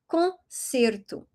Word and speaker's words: concerto: And when you have the c e, c i, or the c with the cedilla, you're going to read it as a s sound. Okay? So, that's why we say concerto.